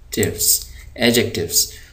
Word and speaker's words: adjectives: है आप यह देखिए यहां पर जो डी है य डी है आपका साइलेंट यानी इस डी को पढ़ते हुए आवाज नहीं आएगी इसको हम पढ़ेंगे नहीं लिखा जाएगा पढ़ेंगे नहीं तो य पर आप देख रहे इसको हम पढ़ेंगे ए जकट एडजेक्टिव्स इसको हम पढ़ते हैं